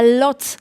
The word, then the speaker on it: Łódź: If you plan to come to Łódź, you should know that we pronounce it in English as a Lodz.